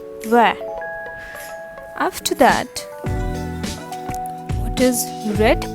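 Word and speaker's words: vert: pronounced gree gree all right what is green pronounced in french that is where where v e r t where after that what is red called in fringe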